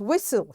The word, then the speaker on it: whistle: and the word is whistle here t is silent butcher t is silent